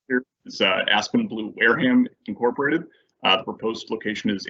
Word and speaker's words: Wareham: mr chamberlain aspen blue whereum incorporated i've always been cured is this how do you pronounce this for those uh long time match is it whereum or wareham i believe it's wareham i'm gonna since sean's